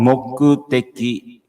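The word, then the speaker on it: 目的: course the romanji, so you can catch the pronunciation, okay? So the purpose is called mokuteki.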